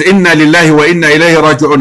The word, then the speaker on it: Inna lillahi wa inna ilayhi raji'un: when somebody passed away, instead of saying Inna lillahi wa inna ilayhi raji'un, they start with Kalu Inna lillahi wa inna ilayhi raji'un. No, is that the right way to say it? It is Inna lillahi wa inna ilayhi raji'un. If they want to add